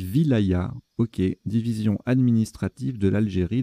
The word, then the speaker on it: wilaya: ailes à sa sauce ça se prononce wilaya ma voyez je le découvre petite découverte donc on dit wilaya ok division administrative de